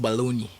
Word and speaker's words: bologna: You know in America they pronounce it baloney.